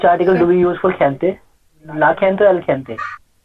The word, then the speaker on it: gente: I gonna say gente, Mhm. jefe. You know, I'm using the same sound.